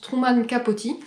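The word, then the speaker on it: Truman Capote: ce livre où d'ailleurs apparemment ça se prononce Truman capoti elle a beaucoup parlé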